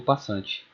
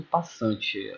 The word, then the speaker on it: passant: a promoção e o passante. Comparado com o rock, esses dois são movimentos bem mais simples e estão ligados ao peão, certo? É importante ressaltar que algumas pessoas não pronunciam passante, elas pronunciam passant, certo?